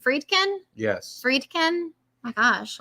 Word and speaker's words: Friedkin: We're gonna sit here until you say it right. The man has passed. You say his name correctly. Friedkin.